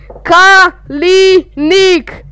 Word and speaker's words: Kalinik: Yovan, I saw you made a video with Kalinik and you don't know how to pronounce the name, so it's called Kalinik.